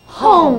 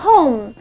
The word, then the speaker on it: home: 后面是所以就念作 home，没有错，它就念作 home。